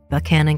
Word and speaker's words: Buchanan: West Virginia border though originally named for the 15th American President James Buchanan I am in fact pronouncing banan County like locals do settled in 1833 it